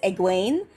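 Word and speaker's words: Egwene: trouble with her name it's eguin and the only reason i can feel fairly confident in that one is i'm pretty sure her name is supposed to sound like gwenevere because it'd say gwain alvir so yeah okay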